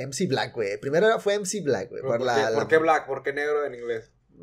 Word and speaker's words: Blxckk: así emme Black después ya evolucionó a.m.blanco ese pronuncia Black nada más le por la x hay algunos